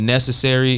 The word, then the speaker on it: Knscry: You can find him at Necessary. It's spelled Knscry.